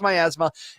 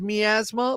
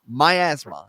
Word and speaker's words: miasma: titles and everything and my Asma it is pronounced my Asma it is also called miasma um in the UK they pronounce that word uh as me Asma but uh it is uh it is titled